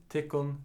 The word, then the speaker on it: tykkum: And the plural is tit, goes like tit, tikkun, tikkun, tikkara. It appears here that the dative has taken over the accusative, so all the accusative final m's are pronounced n as well.